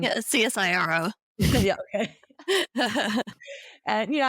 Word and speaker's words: CSIRO: States and most jelly had ciso I'm probably not pronouncing it right but Cyro um csiro yeah okay and you